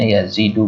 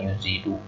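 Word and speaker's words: يزيد: yazidu hari Iman ini kita bacanya yazidu bukan insitu artinya iman itu bertambah ketika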